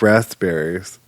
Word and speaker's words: raspberry: I don't like raspberries. I know they're not my favorite. Now, they do have a blueberry pie like this because the pee is silent and I don't like sneaky like that.